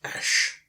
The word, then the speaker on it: æsc: one worked on me they yes see is pronounced ash and it's the AE and ear letters joined